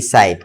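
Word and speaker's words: side: যদি আয়ের পরে একটা কনসোনান্ট থাকে, তারপরে যদি ই থাকে, তাহলে আয়ের উচ্চারণ আই হবে।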